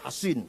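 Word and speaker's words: حصين: Bisod ya, Hasin. Kalau Sin Husain bacanya. Kalau Sod Hasin bacanya.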